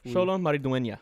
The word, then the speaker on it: Xolo Maridueña: Yeah, Xolo Maridueña. Yeah. I apologize. Xolo Maridueña.